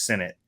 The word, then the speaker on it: Sinnott: exposure to Reed Sinnott and it's Sinnott, by the way. We found out we'd all been pronouncing his name incorrectly, and the Eagles found out it's not Sinnott, it's Sinnott.